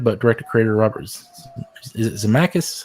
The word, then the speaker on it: Zemeckis: Sure, there's that little fun little cliffhanger, but director-creator Robert is it Zemeckis, how you say it? Zemeckis, something like that.